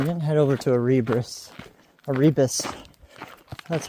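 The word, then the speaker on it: Erebus: Aribbus, that's how you pronounce it.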